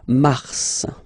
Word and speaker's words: mars: So in a way it's an exception because normally final S is not pronounced in French, okay? We've got some exceptions, and this one is one of them. So mars, pronounce the final S, mars, okay?